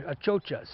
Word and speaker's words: achocha: acutas we got our achocha's it's actually a chocha i finally figured out how to pronounce it it's a chochas there's quite a few